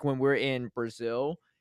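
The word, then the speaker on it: Brasil: sow and then it's also not Brazil It's Brazil right so I try to say it as close to like the Portuguese pronunciation as possible because again there's gonna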